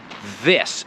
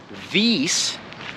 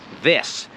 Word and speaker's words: this: part of speaking english the other part of pronouncing the word this is the letter i right it is pronounced this it's an is the letter i and i've said this before the letter i in english is almost never e so we're not saying this no it's this it's an it this